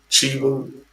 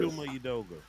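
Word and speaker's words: Chuma Udoga: Uh, Chimu? Chimo? What is it? Shuma Udoga.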